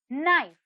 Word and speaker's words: knife: silent the next word knife knife knife here if you see k is silent let's have a look